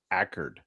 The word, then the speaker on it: Accord: Well, the way the locals say it is Ackerd, but the way it's spelled is Accord, just like Accord, just like a Honda.